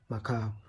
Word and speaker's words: Macabre: The normal pronunciation should be mab pronounce it as macab.